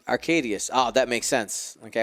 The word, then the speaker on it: Arkadiusz: don't butcher it too much i believe it's arcadius arcadius oh that makes sense okay i was making